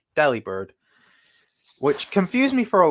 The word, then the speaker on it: Delibird: that Delibird is pronounced Delibird, but the V is replaced with a B? Yeah, because it's because the words are delivery bird, so it's Delibird, which confused me for